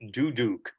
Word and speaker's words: duduk: me came out because it's actually pronounced the duduk is it okay you have